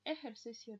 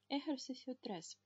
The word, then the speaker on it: ejercicio: Дальше ejercicio dos, кстати, вот эта буква, вторая в слове ejercicio, она называется hocha и читается всегда как х.